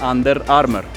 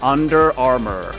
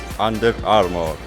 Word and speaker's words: Under Armour: En inglés, las R's se pronuncian desde aquí. Como que estás tragando la R. En Latinoamérica o en español, la R es mucho más en la boca. Entonces muchos latinos dicen Under Armour, y es normal. Si quieres sonar un poquito más nativo, pronuncia la R desde aquí. Under Armour.